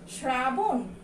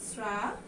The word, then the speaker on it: শ্রাবণ: তারপরে এটা কি উচ্চারণ, শ্রাবণ, তা কিন্তু না, এটার উচ্চারণ কিন্তু শ্রাবণ।